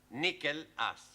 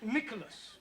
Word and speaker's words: Nicholas: upon a times there was a man called nickel ass it's not quite right no once upon a time there was a woman called Nel as it's pronounced Nicholas all right once upon a times there was